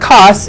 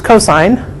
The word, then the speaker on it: cos: don't say sin okay when you see cos it's not costs it's cosine and ta n that's